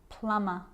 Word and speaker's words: plumber: me I'm not pronouncing the B I'm just pronouncing the M consonant sound climb Krum lamb some dumb plumber and the letter B is often silent when